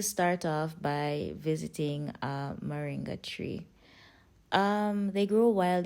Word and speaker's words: Moringa: Ben in different countries in Jamaica most people call it Ming however it's pronounced moringa according to the spelling so for this video